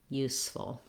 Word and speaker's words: useful: For the second syllable of the word, this syllable is unstressed. It does have the vowel, like in good book, full, just like the word full, but because it's in the second syllable and it's unstressed, it's going to be really short and almost have no vowel sound.